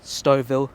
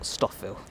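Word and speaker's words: Stouffville: wrong the whole time it's stov Ville not stockville just walking up towards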